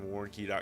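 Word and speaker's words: Warncke: Moore has Chester Moore calm I have warnky calm my last name is spelled W a are in cke love you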